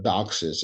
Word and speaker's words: DOCSIS: So we're talking about modems, the modem standard, DOCSIS, or DOCSIS as it's pronounced.